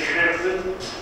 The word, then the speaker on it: Gerben: Because in the Netherlands, they say Gerben, and that's for a lot of people difficult to pronounce.